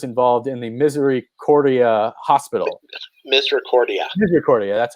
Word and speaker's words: Misericordia: Misericordia, that's how you pronounce it.